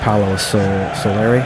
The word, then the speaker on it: Paolo Soleri: Arcasante is this insane concrete village that was let me get his name wrong. Paolo Soleri.